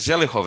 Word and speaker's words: Zelechow: So they pronounce it Zelichov instead.